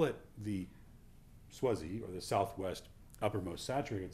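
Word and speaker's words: SWUSZ: the sax grip but if you say s-w-u-s-z really quickly it's pronounced swazi it's a bit easier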